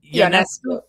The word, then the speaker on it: Ionescu: How do I pronounce it again? Yanescu.